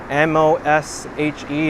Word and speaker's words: Moshe: And Geshmak is saying M-O-S-H-E is pronounced Moshe.